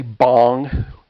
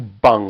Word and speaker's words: Beng: mispronounce it and say bong we're not smoking anything here um it's closer to bung like a bung for a keg okay um in fact